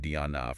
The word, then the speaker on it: Deanna: Our source here is the actual listing um very detailed provided by the agent Diana Dick that's pronounced Diona from Elevation Realy.